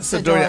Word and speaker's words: Sidora: Sidor, how you pronounce the last name? Sidora.